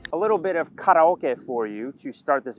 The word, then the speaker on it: karaoke: A little bit of karaoke for you to start this video off. And yes, it's pronounced karaoke, not karaoke.